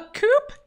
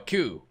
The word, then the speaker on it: coup: only voice line recorded a coop no a coup you don't pronounce the p hey have you found